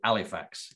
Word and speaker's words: Halifax: it's now a nightclub in halifax or pronounced as we pronounced it alifax calm all el or